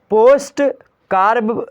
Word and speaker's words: POSDCORB: समझिए पहली बातें यहाँ पर, सबसे पहली चीज़ें मेरे प्यारे दोस्तों आपके सामने आई हैं, पोस्ट कार्ब जो है पोस्ट कार्ब दृष्टिकोण। पुष्प कार्ब दृष्टिकोण का इसका स्पेलिंग होती है POSDCORB।